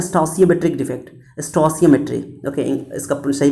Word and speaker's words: stoichiometric: इसे इसका प्रोनाउंसिएशन कह सकते हो स्टोसियोमेट्रिक डिफेक्ट, ओके। स्टोसियोमेट्रिक है, स्टासियोमेट्रिक भी बोलते हैं कितने लोग, है ना।